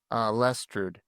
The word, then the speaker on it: Lestrud: So what's the proper pronunciation? Well, Lestrud.